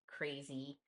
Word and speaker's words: crazy: So understanding that in crazy, we want the A to say A. So it has to be open because if I do it like this, the A doesn't say anymore.